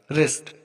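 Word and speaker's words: wrist: Wrong, यहाँ पर भी देखो डब्लू के बाद आर आया है, तो डब्लू हमारा साइलेंट रहेगा। रिस्ट, अब यहाँ पर देखो डब्लू के बाद आर आया है, तो डब्लू हमारा यहाँ पर साइलेंट रहेगा।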